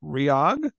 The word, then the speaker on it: REOG: from the band let's see if I can pronounce the band's name right ryog there it is perfect got it now where